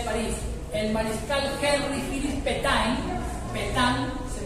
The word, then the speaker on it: Pétain: El mariscal Henry Philippe Pétain, se pronuncia, se escribe Pétain, organizó la defensa de